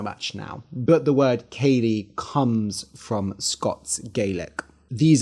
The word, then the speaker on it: ceilidh: So a ceilidh, Ceilidh, yes, that is how it's spelt, and it's spelt that way because it's a Scottish word. It is a Scots Gaelic word.